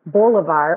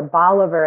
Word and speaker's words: Bolivar: 200 sets of parents who named their sons Bolivar or Bolivar, as they variously pronounced it, after, of course, Simon Bolivar, the George Washington of South America figure that I mentioned.